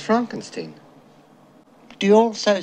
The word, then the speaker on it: Frankenstein: Dr Frankenstein Frankenstein you're putting me on no it's pronounced Frankenstein do you also say froedrick no Frederick oh